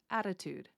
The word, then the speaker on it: attitude: In American English, we don't like to have a hard T sound that breaks the flow of sound. So here I'm kind of reducing it down to a D, or another way to think of it is I'm pronouncing it almost like a Russian R, attitude, attitude, attitude.